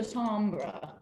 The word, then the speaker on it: timbre: Yeah, yes, the pitch or the timbre. Technically, it's timbre, but Timbre. everybody I know says timbre or timbre instead, which is the way it's spelled, not the way it's pronounced.